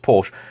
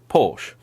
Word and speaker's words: Porsche: I've grown up with, all say Porsche. Now, I don't say it the Tony from Gravelwood way, which is Porsche. That's very, very distinct pronunciation there. But Porsche is how pretty much most British people say it.